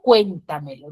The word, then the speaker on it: Cuéntamelo: tildar ya por ejemplo Cuéntamelo no tiene cuatro y su mayor fuerza de voz es en en cuen ya en cuen Entonces como es en cuen